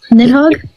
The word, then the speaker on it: Nidhogg: Is that how you pronounce that? Nidhogg?